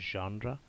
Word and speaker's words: genre: It's pronounced genre. Jenner कह लें, जानरा कह लें।